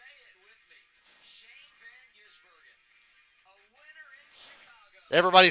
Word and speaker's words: Shane van Gisbergen: how to pronounce his name. Now it's Old Hat in Chicago. Say it with me. Shane Van Gisbergen.